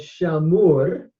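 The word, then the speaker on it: שָׁמוּר: we look at it, the vowel pattern has an A, a long A commas, followed by a shuri. And so we would pronounce it as shamur, and that's a cow passive participle, he was kept.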